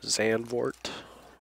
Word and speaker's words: Zandvoort: another week we're at uh xan vort that's how you pronounce it going to grab my